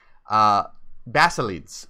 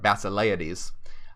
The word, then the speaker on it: Basilides: a clever Egyptian Christian, Basilides by name. And I have to look up the pronunciation of this, if it's Basilides or Basileides. Most likely it's Basileides, who claimed to have received his instruction from the Apostle Matthew.